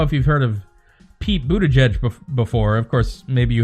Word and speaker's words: Buttigieg: How would you pronounce it in Maltese, out of curiosity? It's Buttigieg.